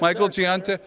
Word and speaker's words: Michael Giunta: His name is Michael Giunta. Do I pronounce it right? Yes, Michael Giunta, not only a Newark fireman for over 25